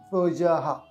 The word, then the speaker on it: প্রজাঃ: আর সেই জন্য এখানে সহযহা প্রজাহা বিসর্গ থাকলে হ এর উচ্চারণ হবে সেজন্য প্রজাহা সৃষ্ট সৃষ্ট তাহলে প্রথম অর্ধেক শেষ হয়ে গেল কি হলো সহযাহা প্রজাহাওয়া এটা প্রথম অর্ধেক শেষ